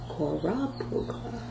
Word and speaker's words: Korobkova: So you have to pronounce it. So Korobkova.